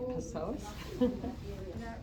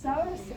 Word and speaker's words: psoas: femur and that's called psoas psoas you don't pronounce the p it's said you don't have to say pesos source and iliacus you can